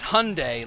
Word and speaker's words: Hyundai: was a new one because it's Hyundai like Sunday what'd I say Hyundai